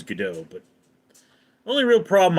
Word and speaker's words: Gadot: The correct pronunciation is Gadot, but the only real problem I have with her is she's not beefy enough to play Wonder Woman.